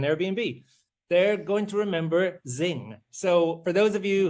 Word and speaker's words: Zzzing: They're going to remember Zing. So for those of you who are who don't know of Zing, it's spelled ZZZ or ZZZ.